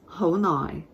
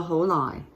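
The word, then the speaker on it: 好耐: Ho is your mid-rising, ho, and then you have your sixth tone, low tone, nai. Now you'll notice this is spelled with an N for nai, but it's more often than not said as lai, with an L sound again, okay?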